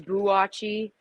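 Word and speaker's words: Boakye: joking with me because he said i remember it like biachi but it's boo watchy and i was like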